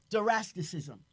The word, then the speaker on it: Zoroastrianism: religions, comparative religions like Zoroastrian or Farian, and Zoroastrianism. That's the correct pronunciation.